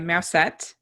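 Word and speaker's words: Mewsette: so so judy plays a cat named uh mousette yeah yeah they spell it m-e-w-s-e-t-d-e so hahaha cat puns yeah a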